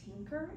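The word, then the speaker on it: Tynker: So if that applies to you, another really great resource is called Tinker. It's spelled T-Y-N-K-E-R.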